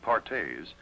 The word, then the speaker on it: Perthes: doctors another crippling disease known as Perthes pronounced pares was the demoralizing ailment